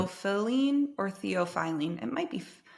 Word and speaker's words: theophylline: Oh, I just pronounced an R. There. I know. I just want to say, they just realized there's no R. Theophylline. Theophyline. I wonder if it's How do I? theophylline or theophylline.